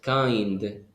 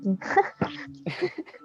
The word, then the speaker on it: kind: Yes, kind. Mhm. The pronunciation is kind, no kind. Ah, yo dije king.